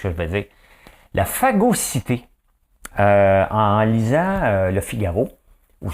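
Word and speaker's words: phagocytée: C'est à cause de la phagocité par l'ultra-gauche. Hein? La phagocité par ultra-gauche, regardez, ça se prononce comme ça.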